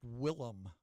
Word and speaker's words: Willem: the portrait and I I think that's pronounced Willem Dafoe is that correct yeah w-i-l-l yeah and I think I called him William before so sorry about that and